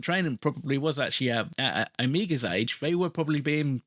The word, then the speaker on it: Omega: I looked at this, and in the US and in the UK, we pronounce Omega as Omega, but in Australia, it's Omega. So obviously there's like the regional thing. But I actually Googled it, and I listened to different pronunciations on YouTube, on Wikipedia, and I was like, okay, fine, it's Omega then.